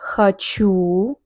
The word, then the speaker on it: хочу: Я хочу. The stress at the end.